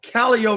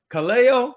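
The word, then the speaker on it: Callao: it's a place called Calio Virginia c-a-l-l-a-o now people look at it and they say Kaleo I said oh no that's that's not how to pronounce it it's Cali it's like you go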